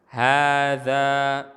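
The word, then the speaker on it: هذا: Hadza fustanun. Hadza, kita lihat hadza, kalau kita perhatikan haknya tidak panjang, tapi bacanya harus panjang.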